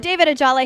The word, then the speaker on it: Ajala: David Ajala here. Keep an eye out for Nightflyers. Yes, good pronunciation.